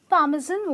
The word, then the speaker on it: parmesan: un-nion(onions) for that matte,r it’s not parmesan its parmezon with a z in the pronunciation, its not pesta its